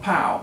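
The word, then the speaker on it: Pao: these people are like the world is called pow that's spelled p-a-o and it's a lot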